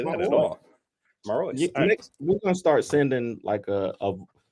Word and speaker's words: Marois: Marois.